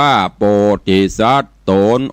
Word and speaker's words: โพธิสัตโต: หัน และ น โส โพธิสัตโต อ่าน ว่า โพธิสัต ตน องค์ อาจ อยู่ ห้อง